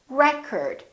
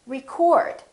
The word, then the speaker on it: record: o it's a record if it's a verb this word is pronounced record i'd like to record my voice in that case the o is fully pronounced it's prolonged and it's stressed and this part now